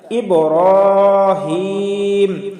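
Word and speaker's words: إبراهيم: ইব্রাহিম, রতে এক আলিফ টান হবে।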